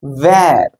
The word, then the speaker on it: where: ஸோ இந்த வார்த்தையை நம்ம எப்படி வாசிக்கணும் அப்படின்னா ஸ்மைல் பண்ற மாதிரி வாசிக்கணும். இட்ஸ் where. Where shall we go? வேர் அப்படின்னு வாசிக்கூடாது.